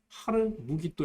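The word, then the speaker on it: 하르므깃도: 추측할 수 있습니다 2분이 아마겟돈 을 좀 더 분명하게 발음하면 하루 무기 또 입니다 무기 또 산 이라는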